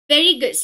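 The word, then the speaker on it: Sveriges: okay, this years Nobel in economic science officially which is known as वेरीगस, okay, यहाँ पे S silent रहता है, how will you से,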